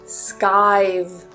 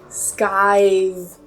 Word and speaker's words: skive: Number 6 is skive. Skive. Be careful with that v at the end. Skive.